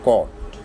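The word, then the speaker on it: caught: यू जी H sorry O यू जी एच आ जाए दरमियान में वर्ड के किसी या एंड पे आ जाए तो उसमें भी जी एच साइलेंट होता है। एग्जांपल्स बॉट दूसरी एग्जांपल है कॉट।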